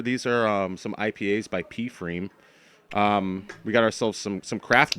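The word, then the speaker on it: pFriem: I really like P Freem a lot. It's one of my favorite breweries. You actually told me how to pronounce that. I always thought it was Freem.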